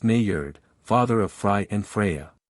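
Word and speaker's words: Njord: as three young women Nord often spelled and iord pronounced Nord father of fry and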